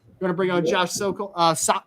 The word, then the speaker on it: Sokol: Going to bring on Josh Sokol. Sokol is how you pronounce it, right? Sokol?